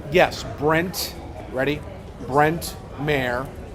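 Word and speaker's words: Mayr: Brent Mayor. M A Y R. Pronounced like the mayor of Houston without the O.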